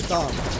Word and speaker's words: Thom: H is silent. Oh, okay, Thom.